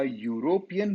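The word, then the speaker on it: European: दो अ यूरोपियन by birth, a यूरोप भले यहां स्टार्ट होता है ई से, लेकिन बोला उसका प्रोनाउंसिएशन वाई यू, याद करे वाई यू।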